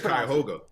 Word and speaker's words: Cuyahoga: Yeah, how I did you said pronounce it? Cuyahoga.